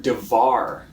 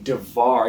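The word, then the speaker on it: דָּבָר: What's interesting, the word for word in the Hebrew language is the word devar, right? Say it with me, devar. Yeah, it rhymes with, say, lamar, which makes me think of a story.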